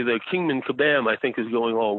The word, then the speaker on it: Kabam: called Uh it is called I want to pronounce this right Kabam I keep wanting to say Shazam but it's